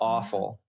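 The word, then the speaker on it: offal: awful is really that's it's called o f it's spelled o f f a l awful oh my gosh well that is fitting I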